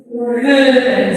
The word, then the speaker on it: hören: Sí, cuidado no pronunciar una U. Porque si pronuncian una U, ¿qué sucede?